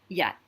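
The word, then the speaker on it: yaht: So same spelling of Y-A-T, but you'll notice this one has the H in it. The H obviously is silent. It's just there to show you it's a low tone.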